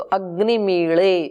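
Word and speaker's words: अग्निमीळे: के बन गया मीड़े इसका उच्चारण ल ऐसे होता है तो कर्नाटक वाले ज्यादा अच्छे से इसका उच्चारण कर सकते हैं क्योंकि वहां ल आता है उच्चारण में उत्तर भारत में ल नहीं बोला जाता है तो अग्नि मीले उस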